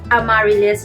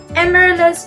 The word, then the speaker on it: Amaryllis: Sinerch ko pa kung paano siya i-pronounce dahil akala ko ang pronunciation nito is Amaryllis.